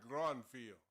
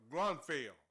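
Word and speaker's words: Grunfeld: He came from the University of Tennessee and uh University of Tennessee had uh another player called Ernie Gruntfield and uh Grunfell. That's that's how you say it, man.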